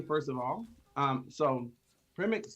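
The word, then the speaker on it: Przemek: your name permanently pronounced it's a z silence from me okay so um welcome to the stream first of all um so premix says hi do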